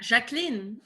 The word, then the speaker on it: Jacqueline: Okay, so it's not Jacqueline. Okay. No, yeah. It's French. Oh, okay. Yeah, Jacqueline.